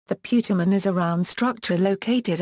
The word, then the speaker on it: putamen: It is pronounced putamen.